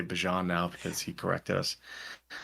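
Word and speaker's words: Bijan: But he was like, "It's Bjon."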